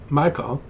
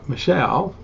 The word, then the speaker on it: Michal: Now Saul's daughter Michal, or Michelle, however you want to pronounce it, loved David, and when it was reported to Saul, it pleased him.